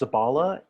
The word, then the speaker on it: Zabala: yeah okay um so my last name is pronounced zabala and it originates from um the it originates in castilian spanish as well as the basque region of spain and uh but i'm